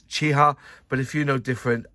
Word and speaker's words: Chi-Ha: And that's how you say it, Chiha. I've had it on good authority. It's Chiha.